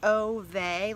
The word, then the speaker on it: Ove: I actually read through the whole book with it being Ove, which I knew was wrong, but it's just how I was pronouncing it. But I did look it up, and it looks like it's Ove, like, yeah, Ove. O-O-O/V-E-H. It's a Swedish name.